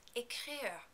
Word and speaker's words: écrire: Take a look at the first E of écrire. Do you notice the accent on top of it? When there's an accent aigu like this, we don't pronounce it as E, but rather as A.